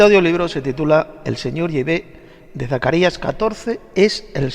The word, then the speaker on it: Yahvé: Sin embargo, parece ser que la pronunciación correcta en hebreo arcaico es Yahvé.